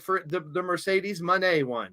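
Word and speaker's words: Moné: for the the Mercedes Monee one she says Monee like money not Monae she's not a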